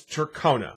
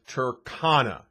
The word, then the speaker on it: Tercona: just said it obviously but some people still pronounce it as turkona so i thought i'd make a video basically explaining why it's turkana not turkona you see when i first came